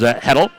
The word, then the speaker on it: Hedl: Trying to remember how my German from college to pronounce her last name, and she helped out. It is Hedl on the baseline.